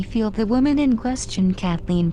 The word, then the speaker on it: Kathleen: the woman in question kathleen pronounced cataline by the marshallese was the mother of